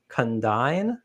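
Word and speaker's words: Condign: to correctly pronounce it condine and it's sort of hard to say and it sounds a lot like condon report which is about the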